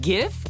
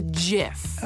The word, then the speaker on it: GIF: Wait, GIF or JIF? Hard G.